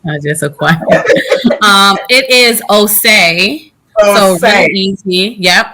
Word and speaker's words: Osei: It is Osei. So really easy. Yep, Osei.